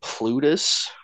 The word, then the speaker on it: Plutus: boat person is uh I believe it's uh pronounced like plutus and uh he is the yeah or sorry